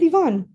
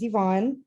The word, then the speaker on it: Yvonne: my newest friends yvonne i think i said your name wrong i apologize it is yvonne oh okay that is my name you did it um like mary said my name is yvonne uh i am the